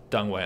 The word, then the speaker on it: Deng Wei: um you know way you're not watching this dung way i should say it's a correct pronunciation of dung um you're not watching this but thanks you you definitely inspired a lot of people uh technically dunway was incredible hopefully you've been watching videos of